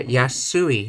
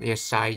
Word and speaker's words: 安い: Yeah, yasui, not yesai, yasui.That's the problem when trying to show both the kanji and the hiragana.